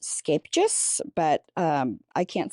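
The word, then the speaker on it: Scheepjes: And we found this brand, it's actually pronounced Scapejes, but I can't say that on a regular basis. We pronounce it Sheepjes.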